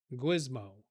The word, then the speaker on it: GWSMO: GWSMO, whatever. Gizmo. That's how do you say it? Gizmo.